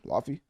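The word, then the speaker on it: Laufey: I've covered Lafy before, I believe. Is that how you say her name? Lafy. It look like Luffy, but you know, obviously I don't make sense.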